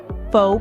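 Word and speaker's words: phở: Pho, pronounced as pho, is thought to have been influenced by both Chinese and French cooking.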